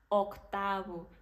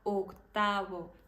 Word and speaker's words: octavo: fechada a letra O a gente não vai falar octavo a gente fala octavo a gente fala oxígeno